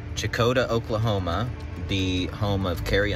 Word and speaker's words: Checotah: All right, we're here in, I think it's pronounced Checotah. Checotah, Oklahoma, the home of Carrie Underwood from American Idol, and it's a cute little town.